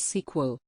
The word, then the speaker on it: SQL: it is a database language used for database creation deletion fetching and modifying browse Etc sometimes it is pronounced as SQL we can also use it to handle organized